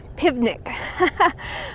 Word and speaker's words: Pivnik: a woman named Mrs pivnik I love that name because it rhymes with nitpick and that's what she